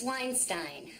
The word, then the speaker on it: Weinstein: That's Weinstein. Rhymes with fine.